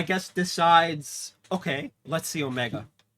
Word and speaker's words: Omega: Anyway, um, answer Omega. But there's a problem. The Underverse is a place of legends. So, Omega, I I'm saying it like an American. It's not like the proper pronunciation.